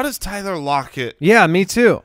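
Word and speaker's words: Lockett: like how does Tyler lock it yeah me too yeah no no no lock it there you go yeah no that's what you needed put the emphasis on the wrong syllable ya know it's it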